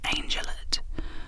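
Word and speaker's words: angelot: Uh, it is pronounced angellet with the stress on the first syllable.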